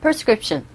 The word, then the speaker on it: prescription: 철자는 P-R-E, prescription이라고 들릴 것 같은데 원어민들 입에서 나오는 소리는 걔네들은 그들의 입장에서는 발음할 때는 prescription이라고 합니다. 그런데 우리 귀에 전달될 때는 이 P-R-E가 아니라 P-E-R처럼 빠르게 발음되죠. 그래서 prescription.